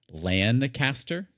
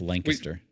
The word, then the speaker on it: Lancaster: And if you if you say it as it's spelled, Lancaster. That's not how the locals call it. It's Lancaster. Yeah. Yeah. We've we've got a Lancaster.